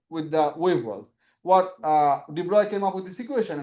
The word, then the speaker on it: de Broglie: That spells like this. Pronounced de Broglie.